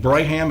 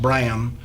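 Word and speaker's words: Brahan: mystery it looks like Braham is b-r-a-h-a-n uh probably pronounced Bram but anyway he was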